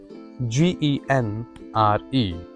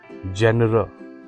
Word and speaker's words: genre: GENRE. This is not genre. No, this is genre.